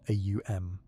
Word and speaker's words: Om: One of the most accessible is the sound om pronounced a u m considered in many Buddhist traditions to represent the fundamental vibration of consciousness.